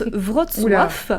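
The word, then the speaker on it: Wrocław: On reste en Europe mais on part direction la Pologne dans la ville de Alors là ça se prononce Vrotif.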